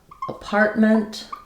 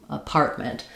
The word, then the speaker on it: apartment: Um, in English we have, for example, apartment. We stress on the part syllable um, rather than mall, apartment.